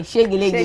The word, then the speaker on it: Shegeleke: Shegeleke just the way we are pronouncing it. S H E right? Yes. G G E L E Yeah. Hey, Shegeleke.